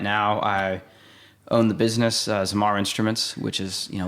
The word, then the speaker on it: Zamar: that's awesome uh so your brand zamar yep zamar am i saying it correctly yep yep zamar